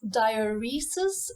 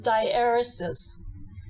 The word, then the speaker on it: diaeresis: They are in fact a diacrit known as diaeresis, as my lecturers used to say them, or you can also pronounce it diaeresis.